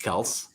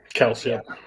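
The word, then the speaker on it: Kelce: I'm going Travis K you know that his name is pronounced kelse kelse y but Jason basically says you call me Kelsey yeah because like they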